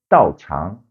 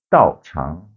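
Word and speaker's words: 道场: where you practice, that place is called the 道场. 道场. Dao means the way, as in the do, taekwondo or karate do, judo. The chang is a venue, a place. So 道场, that is the dojo.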